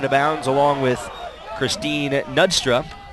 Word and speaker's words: Knudstrup: Here's Alexis Vargas chasing the ball out of bounds along with Christine Knudstrup. Got to pronounce the K.